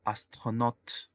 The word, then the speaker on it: astronaute: El siguiente ejemplo, astronaute. La combinación A-U en francés se pronuncia O y la palabra astronauta es masculino y femenino.